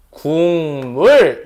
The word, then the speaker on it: 국물: 국물 발음이 어떻게 돼요? 국물 요렇게 발음이 됩니다. 이해했어? 기역이 뭐로 바뀌었어? 이응으로 바뀌었다는 소리야.